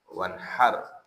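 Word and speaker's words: وانحر: Ingat haknya jangan ha besar dibacanya ya. Wanhar. Kalau pakai H besar beda arti. Kalau kep pakai besar nahar itu artinya siang. Jadi beda ya ketika membaca wasahhah makhrajnya harus harus jelas. Beda artinya.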